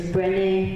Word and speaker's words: Brené: her last year, is Brené Brown. Anybody here know who she is? Brené Brown. B-R-E-N-E is her first name with accent on the second E.